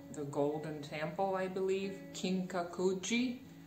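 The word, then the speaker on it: Kinkaku-ji: golden temple i believe kinkakuji i think that's how it is pronounced in japanese his book really great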